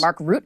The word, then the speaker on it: Mark Rutte: Mark Rutte.